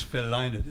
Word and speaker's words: Lynott: His name is Phil Lynott. It's like it rhymes with lie not.